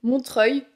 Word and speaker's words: Montreuil: c'est le charme anglais en réalité il prononce très bien le nom de cette ville Montreuil il y a rien